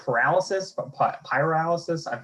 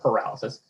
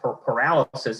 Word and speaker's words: pyrolysis: So my first question is, I found a report that pyrolysis, I'm obviously mispronouncing it, it's not paralysis.